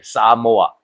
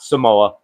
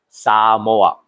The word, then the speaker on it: Samoa: That's how they say it, by the way. Samoa. It's not Samoa. It's Samoa.